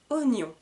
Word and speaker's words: oignon: voici l'avant dernier un oignon un oignon alors attention pour le mot oignon parce que c'est l'écriture est très différent de ce que nous entendons un oignon pourquoi parce